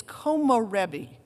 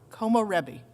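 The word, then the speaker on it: 木漏れ日: find it useful too it's como rebe k-o-m-o-r-e-b-i como rebi I think I'm pronouncing it right from the Japanese it means soothing sunlight through trees comarebi hang on to that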